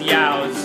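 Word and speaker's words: ewes: The word is actually used, but it's pronounced yows.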